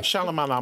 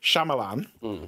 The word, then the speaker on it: Shyamalan: might not like this one so M Night shalamuala Milan who can never say his name right Shyamalan M Night Shyamalan has got a new gay